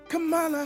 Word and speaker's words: Kamala: Okay, we've learned that this lady's name is pronounced Kamala Harris.